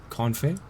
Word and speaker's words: confit: Confit? Yeah. One moment.